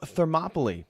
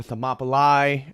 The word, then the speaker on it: Thermopylae: you guys about the Battle of Thermopylae or Thermopylae again I'm going to be using our very English pronunciations of many of the names and places this evening